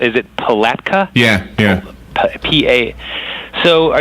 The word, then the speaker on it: Palatka: in your in your backyard so how's it pronounced is it Palatka yeah yeah PA so are you guys familiar